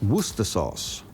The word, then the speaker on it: Worcestershire sauce: meat and this is worcester sauce that's actually written down as worcestershire sauce but commonly pronounced as worcester sauce it is a sauce